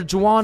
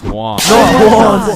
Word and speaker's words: Juan: That's just how it's pronounced. Jan, is there Jawan in the room? It's Juan.